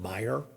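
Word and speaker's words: Meijer: sell them at this food store that's called Meyer. M EI jer is how it's spelled and they sell them.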